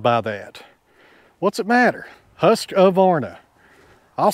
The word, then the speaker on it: Husqvarna: If you can grab my saw, I got my Husqvarna with me today. Whenever I say Husqvarna, I add an A to it. That's the way I like to say it.